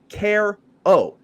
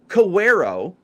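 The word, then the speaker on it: Quero: to baseball reference and it says care o it's not cero okay I I don't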